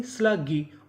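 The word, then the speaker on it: sluggish: एस एल यू। इसे पढ़ेंगे स्ल। और जी हमारा दो बार है। पढ़ेंगे कितनी बार? एक बार। और आगे आई है तो इतनी मीनिंग क्या बनी? स्लगी।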